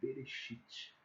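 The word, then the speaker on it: בראשית: Que aí vocalizando para a gente poder pensar melhor e pronunciar melhor, fica aí como Bereshit, né?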